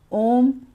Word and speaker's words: ओम: ओम में ओ थोड़ा खींचता है और म ज्यादा खींचता है।